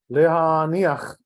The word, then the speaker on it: lehaniach: So again, right, you're going to say lehaniach, right, and not lehaniach, and not like that. The last syllable is shorter, is faster.